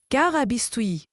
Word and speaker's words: carabistouille: Carabistuyi se prononce Carabistoui.